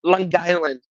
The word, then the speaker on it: Long Island: It's all one word, Long Island.